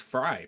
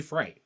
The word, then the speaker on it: Frey: drinking some frey ranch you may look at it and think it's pronounced fry but supposedly it's supposed to be fright i don't [ __